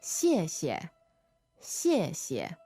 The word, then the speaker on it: 谢谢: So in pinyin, that's X-I-E, fourth tone, and then X-I-E, neutral tone. Right. 谢谢，谢谢. Yeah, you can hear how the first syllable has a stronger xie to it, right? And the second one is neutral.